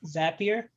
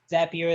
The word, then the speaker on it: Zapier: information to um a third party tool like zapier or zapier i don't know people pronounce it differently zapier that's how i call it and when they